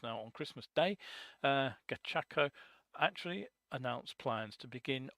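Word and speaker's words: Gachaco: if you remember uh gacho I think I pronounced that no it's G gako that's it must get the pronunciation of that right gako now if you remember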